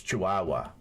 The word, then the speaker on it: Chihuahua: I was saying it how it's spelled so that you could, you know, spell it properly. It's Chihuahua.